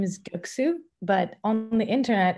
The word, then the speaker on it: Göksu: to uh as for that my name is guksu but on the internet it's really hard to